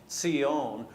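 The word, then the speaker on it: ציון: Okay, so in Hebrew that would be Zion, and it's a TS sound at the beginning, not the Z, okay?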